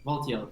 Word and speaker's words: Valtiel: I really like the, I don't know how to pronounce the name, but it's like Suchilbara? No, like. Oh, Valtiel? Valtiel, thank you.